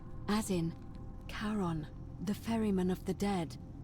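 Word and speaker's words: Charon: it's just as you described it only your pronunciation is a little off the name you heard wasn't Karen it was c h a r o n as in karon the Fairman of the dead that's the plat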